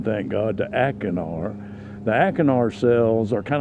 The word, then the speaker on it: acinar: They change the pronunciation, thank God, to acinar.